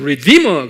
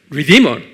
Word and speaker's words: redeemer: redeemer 그래요. redeemer. 입으로 하면 redeemer, 액센트가 D에 있어요.